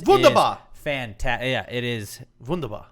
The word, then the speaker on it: wunderbar: fan Talya it is wunderbar it is vundu bar vundu by ask you don't pronounce the are funda by there you